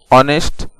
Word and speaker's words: honest: HONEST, ऑनेस्ट। ऑनेस्ट का माना होता है ईमानदार। दोस्तों, आप यहाँ देख सकते हैं कि यहाँ पर H साइलेंट है।